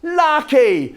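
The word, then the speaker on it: Lake: Lucky, spelt L-A-K-E, pronounced lucky.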